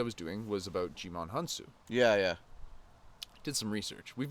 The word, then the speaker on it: Hounsou: And then it's like Hounsou. Hounsou. So like the H is silent.